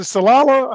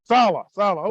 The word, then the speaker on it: Saleh: Coach Robert, is it Salala? How do you pronounce that word? Saleh.